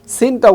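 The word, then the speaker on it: س: অর্থাৎ সিনটা উচ্চারণ হবে সি, সি, সিন, ঠিক এভাবে। তারপরে হরফে যদি আমরা যাই, দেখতে একই, উচ্চারণ ভিন্ন।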